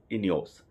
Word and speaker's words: INEOS: तो इनियोज में आप इनियोज का अगर आप स्पेलिंग्स नोट करना चाहते हैं तो स्पेलिंग नोट कर लें, INEOS, इनियोज।